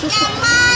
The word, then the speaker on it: แกมมา: ดัง สี แกมา แกมมา มัน ไม่ อ่าน มาม่า นะ มัน อ่าน แมา มัน อ่าน ว่า แกมา มาก กว่า ค่ะ เพราะ ว่า มัน ต้อง มี โมมะ 2 ตัว เรียน ภาษา ไทย ค่ะ